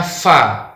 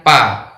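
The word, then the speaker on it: ف: Kemudian kesalahan selanjutnya, saat kita membaca huruf Fa, ada yang membaca dengan huruf P. Harusnya dibaca Fa, dibaca Pa. Nah, ini tentunya tidak benar ya. Ini yang benar membacanya Fa, bukan Pa. Insya Allah ini mudah ya. Ini seperti huruf F dalam huruf Indonesia.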